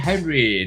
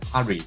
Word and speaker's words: Hari: we shall see this hi Henry nice to see you here ah hurry hurry correct I should pronounce as Hari all right all right